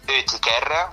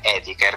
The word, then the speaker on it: Oetiker: Sarebbe Oetiker, sì. Che sarebbe il dittongo OE, in realtà italianizzato è Etiker, quindi per mettere Etiker.